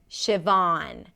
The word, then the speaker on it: Siobhan: Von, a V sound. Ah, as in father, or you can even round the lips a little bit, and then an N. Von. Siobhan.